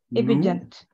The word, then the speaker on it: obedient: the children numerous and obedient. And obedient, yes. Yes, obedient. Is giving way. The accent is on the B. Obedient.